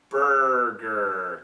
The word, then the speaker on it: burger: no that's not cool so get that R sound Burger can you hear it it's not b b no Burger it's tough I know